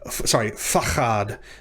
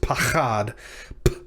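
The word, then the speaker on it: פחד: of a word, but if it follows the word and, it will, in which case it will be pronounced pachad. This word will be pronounced, fachad, meaning dread or terror.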